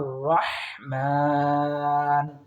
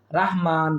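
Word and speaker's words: رحمن: এরপর দেখুন ইল্লার রহমান, ইল্লার রহমান, এখানে আমরা অনেকে ভুল করে থাকি, রাহমান বলে থাকি। সুতরাং রহমান সঠিক উচ্চারণ।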